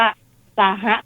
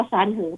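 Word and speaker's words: 三合: อีก อย่าง หนึ่ง ว่า ซาฮะ ตาม สำเนียง ฮกเกี้ หรือ ว่า จิน กลาง ออก เสียง ว่า ซานเหอ แปล ว่า องศา หมาย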